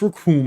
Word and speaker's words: Raccoon: My name is Raccoon. It rhymes with doom, and you'll be hurting all too soon.